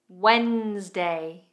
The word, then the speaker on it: Wednesday: Wednesday.